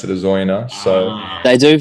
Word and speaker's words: Oyonnax: They pronounce the X, but the locals pronounce it as Oyonnax. So, They do say the X in the southwest, actually, down here. I can't confirm. but it's definitely a silent X to the locals.